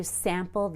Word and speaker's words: sample: camp here have you sampled the sample now the word sample doesn't change whether it's a noun or a verb you always stress the first syllable listen again have you